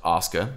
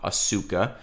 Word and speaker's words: Asuka: And yes, it's pronounced Osca. That's the correct Japanese pronunciation, not Asuka, even though it's spelled like that in English.